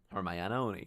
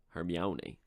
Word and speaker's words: Hermione: It wasn't until I saw the movies that I found out how to pronounce Hermione's name. Hermione. Because for years I thought it was Hermione.